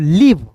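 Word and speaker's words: leave: का ल होता है इ ए जब भी आपको दिखता है ना किसी वर्ड्स के बीच में इ ए दिखेगा तो इ ए का उच्चारण इ के रूप में करोगे और भी ई का उच्चारण व के रूप में ठीक है हो जाएगा आएगा लीव यहां पे अंतिम में आया ई साइलेंट होता है।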